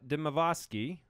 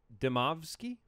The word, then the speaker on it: Demovsky: of us all right ESPN Packers reporter Rob deasi I didn't pronounce that right Rob demovsky yeah there you go I I don't get